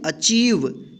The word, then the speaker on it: achieve: अचीव।